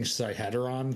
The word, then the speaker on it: Sihedron: I mean, my biggest question right now is, how are we supposed to be pronouncing Sihedron that it rhymes with within?